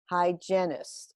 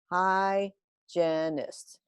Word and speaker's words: hygienist: she's a dental hygienist hygienist can you repeat that hygienist three syllables hi janist and this is a